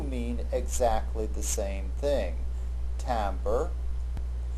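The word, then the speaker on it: timbre: exactly the same thing tamber the English pronunciation of a French word that means tint refers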